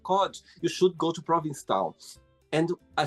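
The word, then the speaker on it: Provincetown: Um, and I remember like when I was younger, I'd always call it like Providence Town. When I was little, I couldn't pronounce it because But it's Province Town.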